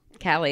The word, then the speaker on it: Callie: Callie, it's like Sally with a K.